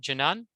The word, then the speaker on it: Jinan: Is it Jinan? Yeah, yeah, you say it correctly.